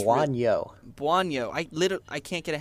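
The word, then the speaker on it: Bouagnon: It's Buonyo.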